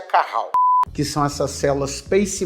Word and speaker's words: Cajal: e mais várias células de cajal que pronuncia Caral que são essas células